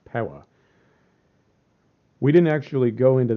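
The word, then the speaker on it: Piła: I believe down to Pella but we didn't actually go into spell pea ITA but it's pronounced from what I could find it's pronounced Pawa we didn't actually go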